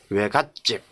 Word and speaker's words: 외갓집: 이때 또 왜 들어가죠 이때는 처갓집 외가집 발음이 사이 소리 발음이 난다는 겁니다 예 그래서 저 갓집 외갓집 예 그렇게 들어간다는 거